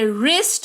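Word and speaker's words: wrist: बाद आर ए जाए तो डब्लू का उच्चारण नहीं किया करते जैसे की blue are आई एस टी डब्लू के तुरंत बाद है आर तो इसको पढ़ेंगे रिस्ट नेकी वरिष्ठ ठीक है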